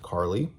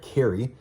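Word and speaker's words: Cari: This is about a girl named Carly, or sorry, Carrie. It's spelled C A R I. So, I keep wanting to say Carly, but it's actually Carrie.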